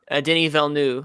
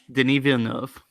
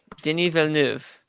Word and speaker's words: Denis Villeneuve: anything he could surprise and be like the did evil new like last year 2014 I made it in